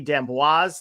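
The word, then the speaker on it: D'Amboise: shot of the future and this was Ashley denboise that's how you pronounce her name I looked it up before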